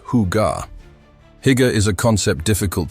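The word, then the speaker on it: hygge: It's called Higa, pronounced huga.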